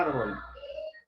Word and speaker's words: árbol: Velázquez, ¿cuántas sílabas tiene la palabra árbol? ¿Ah? Dos sílabas, ¿no? ¿Cuáles son? Pregunta Velázquez, ¿dónde tiene la fuerza de voz? ¿En ar o en bol? En ar, ¿no?